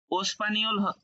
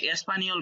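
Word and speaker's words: espagnol: এস স্পানিওল মানে কি ওস্পানিওল হওয়ার কথা ছিল এটাই বলতে চাচ্ছেন যে এটা ওস্পানিওল হওয়ার কথা ছিল কিন্তু স্পানিওল কেন তাইতো আচ্ছা এটার উচ্চারণটা এরকমই কিছু কিছু ওয়ার্ডের উচ্চারণ আমাদের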